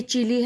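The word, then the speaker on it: Chile: बोल सकते हैं हम, ऐसा कुछ नहीं कि ऐसे बोलना चिले या चिली।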